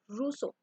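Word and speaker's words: Rousseau: इस वर्ड को प्रोनाउंस करते हैं एज ए रूसो।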